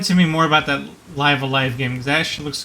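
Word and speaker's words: Live A Live: I actually encountered somebody that encountered the ROM and pronounced it Live Evil because that's how the logo looked to him, and like, no, it's supposed to be Live Alive.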